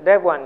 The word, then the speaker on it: Devuan: Debian uh the system dev one you can address it with uh just dev uh d-1 so it's pronounced exactly as it sounds uh dev one if you go dev-